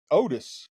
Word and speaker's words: Oats: But, guys who Keith Otis. Yeah, is how you say it, I guess. It's spelled Oats, and we've always said Oats, but I guess it's Otis over East Pennsboro.